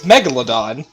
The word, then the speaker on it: Megalodon: How is this was pronounced? It's Megalodon.